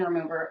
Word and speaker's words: remover: I like the word remover because it's a stressed syllable, move, with a really quick R sound before and after. The quickest R sound you can make.